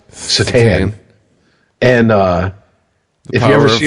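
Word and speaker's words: Šatan: But yeah, I got the pleasure of watching Miroslav's his last name's spelled Satan, but it's pronounced Satan.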